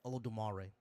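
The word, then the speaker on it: Olodumare: What's Olar Olvari? Is that how you say it? Olo Dumare. Dare.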